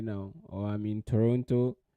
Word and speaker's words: Toronto: we start okay then uh um I mean Toronto right now or how they say it yeah